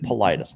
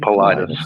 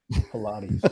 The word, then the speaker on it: Paulides: So nobody says that guy's name right. Nobody. Yeah, David Paulides, David. I hear a lot. I got some missing teeth, so I can't pronounce anything right. Ladies a lot. Nobody ever gets it right. It's David Paulides, ladies and gentlemen.